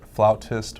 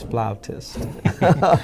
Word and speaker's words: flautist: they referred to well sometimes you'll hear flautist or flutist it's personal preference I prefer flutist oh you prefer flutist I I too have been pronouncing it that way until somebody told me that it's flautist it was nonetheless the